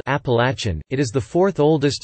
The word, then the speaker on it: Appalachian: dialects in the southern regions of the Appalachians. The word is pronounced Eplatnz, with the third syllable sounding like latch.